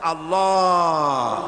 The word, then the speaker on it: আল্লাহ: পাকের নাম উচ্চারণ হচ্ছে আল্লাহ মুখটা একটু গোল হয়ে যাবে বলেন আল্লাহ আল্লাহ পৃথিবীতে বিভিন্ন জাতি